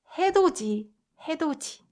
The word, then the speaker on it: 해돋이: And 해, this one might seem like it should be pronounced 도디, right? 도디, but that is not true. The correct pronunciation is 해 도지. 해돋이.